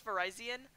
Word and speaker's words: Virizion: it's Ferrazzi and frisian i say it both ways I just I just say it however I feel like saying it whenever I feel like saying it I I just do that sometimes I know it's Verizon but I've been calling it Virizion too long but sometimes I'll call